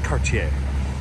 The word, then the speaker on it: Cartier: Lincoln Town Car Cartier some people may say Cartier or Cartier depending on where you're from but trust me the correct French pronunciation is Cartier so this is a